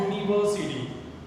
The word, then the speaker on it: university: So that is why we have to use a university. It's a vowel. First letter is vowel, university. But the sound is like year, means Y.